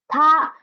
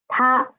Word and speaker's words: 她: Next one, the pronunciation is the same. It is still ta, but the character is a little bit different. So it means she or her, ta.